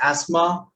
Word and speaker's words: asthma: Okay, so picket, pocket, so it's there, and some other random words like asthma, Christmas, soften, mortgage.